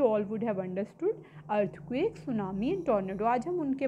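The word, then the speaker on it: tsunami: चच is called सुनामी टी is silent here T एस यू एन ए सुनामी इ the word सुनामी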